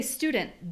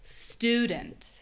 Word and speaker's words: student: Notice how when you say student, the ooh vowel, that one's very clear. student.